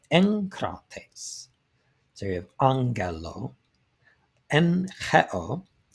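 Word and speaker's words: ἐγκρατής: When a gamma is followed by another velar, the first gamma is pronounced like an N, an N sound to us, but a nu. So you have not egkrates, not that. We have enkrates.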